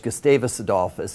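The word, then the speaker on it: Gustavus Adolphus: last day I was at the small college gustavis adice is the way we pronounce it yeah it's a small Swedish school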